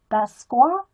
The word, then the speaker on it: Basquiat: I want to go to the Arhai Museum and see Jean-Michel Basquiat.